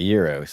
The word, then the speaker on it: gyro: My mob chimed in and said it's pronounced year. She's talking about the gyro as year as Okay. Yuros. Okay. year roast.